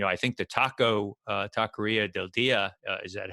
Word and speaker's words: Taqueria del Dia: that and you know i think the taco taqueria del dia is that how you pronounce it yeah that's right that may be